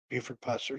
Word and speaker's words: Buford Pusser: Buford Pusser.